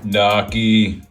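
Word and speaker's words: gnocchi: I'm still full from the Noki. Noi. The G is silent like lasagna.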